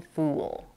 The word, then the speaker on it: fool: We have the laxed U in full and the tense U in fool.